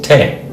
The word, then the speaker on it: Tae: Okay, going to the second syllable is Tae. There's 2 letters in Tae. The first one is T. It looks like an E in Korean, but in English it's a T. The second letter is the vowel. It's pronounced A. It looks like an H, but in English it's an AE, meaning a hard A.